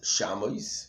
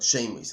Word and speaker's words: Shemois: Articulate, but the Gemara here darshans that we should not pronounce it Shamois, but Shemois. Articulate Shamois elo Shemois.